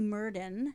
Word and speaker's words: Murden: right stuff to look Naomi Merdan not murder which I kept typing Merdan she